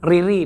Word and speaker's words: Riri: Jadi, ini adalah zipper dari brand Riri namanya, R I R I.